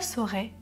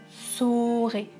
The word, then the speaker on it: saurai: priorité bien sûr donc attention à la différence de prononciation entre le verbe savoir et le verbe être je serai et je saurai serez sort et est ce que vous entendez la différence avant de voir dans